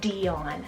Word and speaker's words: Dion: an amazing meaning so this is the name dion cell d-i-o-n-dion and it's greek rooted meaning child